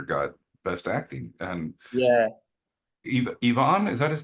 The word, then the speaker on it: Iwan: And Yeah, Yvonne, is that his name? it's Iwan. His name Yvonne. is. Okay, okay. Yeah, yeah, Well, yeah. I definitely mispronounced that in the award.